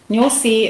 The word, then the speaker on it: Nyosi: Can you spell it and explain what it means? Yeah, sure. So it's Nyosi Wildlife Reserve, Nyosi. Nyosi in the Xhosa language means bee.